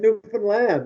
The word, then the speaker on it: Newfoundland: real stories you guys could and you even pronounce it right you said newfoundland wow that's important oh my god yes my